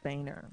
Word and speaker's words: Boehner: like Boner, but it's pronounced Boehner.